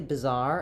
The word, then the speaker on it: bizarre: So, um, basically bizarre and bizarre sound almost exactly identical. In both of them are stressed on the zar syllable.